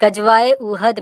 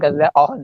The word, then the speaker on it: गज़वा ओहद: आप पहले प्रोनाउंसिएशन ठीक करें, गज़वा ओहद है, आपको नाम लेना नहीं